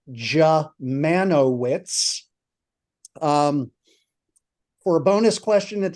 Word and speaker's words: Dziemianowicz: And the American pronunciation of that ghastly last name, which makes me the Unspeakable or the Unpronounceable, is Dziemianowicz.